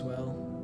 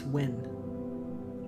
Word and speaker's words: Wy: they said one shot for anyone wondering how to say my name it's win oh when you gotta add an n to your name on discord it's just w y and that looks like we when don't you have